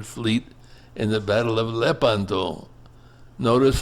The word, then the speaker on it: Lepanto: in the battle of Leanto. Notice how I pronounce it. Leanto, not Leanto. It's pronounced lepanto in Italian.